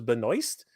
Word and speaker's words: Benoist: go ahead and apologize I did not know it was Benoist but you you kind of you you can't blame me I mean it's spelled Benoit uh as far as